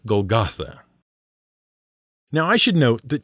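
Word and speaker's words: Golgotha: it was called goet the Greek pronunciation is golgatha and why all the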